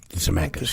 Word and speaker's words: Zemeckis: Zemeckis, yeah.